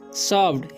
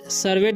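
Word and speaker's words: served: सर्व्ड, savoured, सर्वेड नहीं पढ़ना या सेव्ड नहीं पढ़ना है, क्या पढ़ना है?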